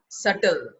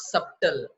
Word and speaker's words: subtle: is in red color they are silent subtle it's not subtle subtle it is not